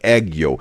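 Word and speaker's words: 애교: Like this is like this and Penn says in YouTube chat the pronunciation is kind of like eggo. Okay. Like egg yo.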